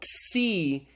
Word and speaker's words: xi: it's the C okay it's an XS kind of sound it's like the X and axiom so C is pronounced as in axiom just make sure you